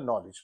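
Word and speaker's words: knowledge: the silent letters so नॉलेज में जो है मैंने बताया था आपको डी लेटर जो है वह साइलेंट है यस फॉर द रि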